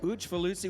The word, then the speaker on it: Ujfaluzzi: that pronunciation, and Lily Ujfaluzzi. Zach was very bemused. He noted that it was in fact pronounced the same EAU sound as in Cousineau, which for some reason I should probably understand.